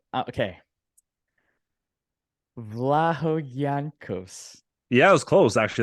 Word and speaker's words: Vlahogiannakos: Vlahogiannakos. Yeah, it was close. Actually, that's one of the better ones I've heard. It's Vlahogiannakos.